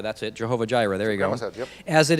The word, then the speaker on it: Jehovah Jireh: of that place i don't know how to pronounce that jehovah oh jira that's it jehovah jireh there you go as it is said to